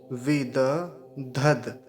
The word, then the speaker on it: विदधद: और ये वाला धद है, धद, पहले धकार है फिर दकार है, विद धद, ऐसे, विद धद। और ये धकार का ठीक से उच्चारण आना चाहिए, नहीं तो यहाँ धकार में दकार में अंतर समझ में नहीं आता। तो पूरा देख लीजिए एक बार, विद धद, विदधद, विदधद।